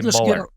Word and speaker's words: Muller: They always said Mueller, but It's like Bueller, but Mueller, and this is spelled it the same way. But you say Muller.